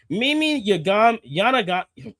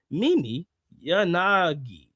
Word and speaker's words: Mimi Yanagi: Mimi Yanaga. Jesus. Mimi Yana. What the fuck is this name? Jesus Christ, I can't pronounce this fucking name. And I'm good with Japanese names. Mimi Yanagi. There we go.